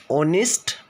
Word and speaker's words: honest: starting three examples adds it's silent so the pronunciation of first one is our of next honest of next layer here all these three examples